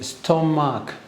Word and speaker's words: stomach: For example, if you have CH, when you say stomach, so the CH is pronounced as K. Look, ache.